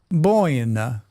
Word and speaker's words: Buena: It's pronounced Boina.